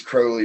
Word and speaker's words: Crowley: He has a rhyme. It's my name is Crowley because I'm holy. My friends call me Crowley because I am holy.